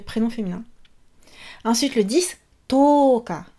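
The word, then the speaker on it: とおか: Ensuite, le 10, toka. On allonge le O.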